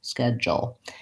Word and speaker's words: schedule: then in this pronunciation I have just a dark L but there's a little bit of a schwa sched Joel schedule or I might write